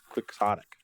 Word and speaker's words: quixotic: dollar words there Yanik quixotic quixotic even though just a very very English pronunciation it's an English word that's weird anyway I